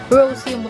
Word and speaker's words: Roseum: Roseum yung pronunciation nito.